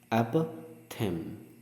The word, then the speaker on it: apothegm: ठीक है, इसका प्रोनाउंसिएशन है एपथेम. राइट, जी का साउंड इसमें नहीं आता है.